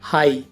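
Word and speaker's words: high: और ऐसी एग्जाम्पल है हाई और थ्रो। इन दोनों में वर्ड के लास्ट में जी एच है, ये साइलेंट है तो इसे हाई पढ़ेंगे और इसे थ्रो पढ़ेंगे।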